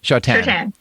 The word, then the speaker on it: Choughton: I always say your name wrong. It's Choughton, right? Choughton. Yes.